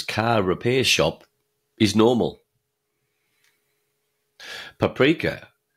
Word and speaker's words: paprika: Paprika, pronounced paprika in Hungarian.